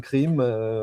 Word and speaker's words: CREAM: Est-ce que c'était créam ? Est-ce que c'était Cream ? Finalement, on s'est dit on va prononcer cri mais à la française donc ça donne crime.